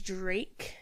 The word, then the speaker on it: Dreyk: The user's name is Drake, but it's spelled Dreyk.